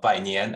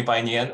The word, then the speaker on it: Bainian: good evening everyone uh my name is uh by nian actually so chinese might change my last name so yeah you can call me by nian or you can also call me brian if